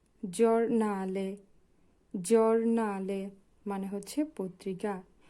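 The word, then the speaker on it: giornale: জাক্কা জি এর পরে আছে ই ও হবে জরনালে মানে পত্রিকা জি এর পরে আছে ইউ হবে জু জুসত জুসত মানে হচ্ছে সঠিক আশা করি এতটুকু আপনারা বুঝতে পেরেছেন।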